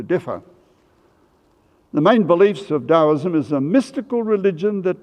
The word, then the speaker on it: Taoism: religion called taoism spelt t-a-o-i-s-m but pronounced as if it was a halfway between a d and a t taoism founded by a